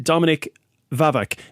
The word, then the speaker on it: Dominik Wawak: And we also have third year student who is taking IoT, Dominik Wawak. Now, did I pronounce that correctly?